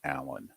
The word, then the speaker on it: Alain: room okay even though his name is spelled Elaine I believe he pronounces it Allen okay he's French Canadian